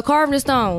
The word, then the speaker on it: CarvdNStone: oh yeah yeah so carving the stone let me spell it out for y'all so it's c-a-r-v-d and like Naisha and then Stone carved in stone like you carving something in stone and then so make